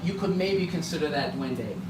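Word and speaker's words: duende: Dwende. Dwende. Okay. How do you spell that?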